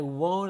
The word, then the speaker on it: won't: That's called a ghost T. Even though I'm not pronouncing it, we hear it. As a native speaker, we hear the T.